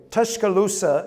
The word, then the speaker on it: Tuscaloosa: Y'all have heard of Tuscaloosa, Alabama? Okay. Tashkaloosa is how you say black warrior in Chalkaw and that was a